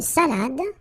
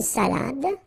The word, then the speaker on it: salade: Alright, so, une salade. Same thing here. Final you don't insist on it. It only gives you the pronunciation of the previous letter. So, d. Salade. Salade.